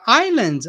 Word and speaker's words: island: the pronunciation here okay the S is not pronounced in English so don't say is